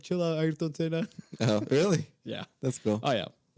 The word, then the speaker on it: Ayrton Senna: Yeah, You guys Ayrton pronounce Senna. How is it? Ayrton Senna. Ayrton Senna.